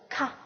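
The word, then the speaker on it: ཁ: 好，那么再看一下下一个字体，下一个字是咔咔咔咔咔咔。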